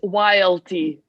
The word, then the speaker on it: YLT: It's YLT, just one While little, you yeah. pronounce it It's YLT.